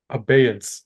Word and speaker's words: Abeyance: Nationals win, when he answered Mike Long's Cadaverous Bloom combo sequence with 3 wicked syllables. What are those syllables, Alex? Abeyance.